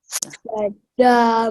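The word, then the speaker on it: श्रद्धा: Shraddha mayoyam purusho. Very good. Very good. Yo yachadda. Yo yachradda. Yo Pronounce it.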